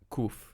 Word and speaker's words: Kuf: Next we have Kuf. Kuf is pronounced just like the Kaf with a dagesh in it in modern, and in biblical it's pronounced a little bit deeper, Kuf.